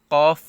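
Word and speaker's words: قُ: ইউ ইয়া পেশ ইউ কফ পেশ কু কফ পেশ কু কাফ পেশ কু আবার এখানে কফ পেশ কু কাফ পেশ কু এই দুইটার উচ্চারণ একই রকম করা যাবে না কফ কফ একটু ধাক্কা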